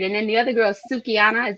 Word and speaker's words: Sukihana: what you heard and then the other girl sukiana is how you say her name because you know i'll be messing everybody name out sukihana sukihana and her only fans video we're also